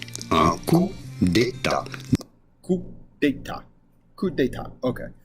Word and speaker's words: coup d'état: In France, we would say coup d'état. Un coup d'état.